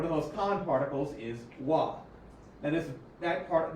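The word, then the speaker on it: は: One of the most common particles is wah. Now this that part that haggana syllable is pronounced as wah in this case and a few other cases even though normally it's ha.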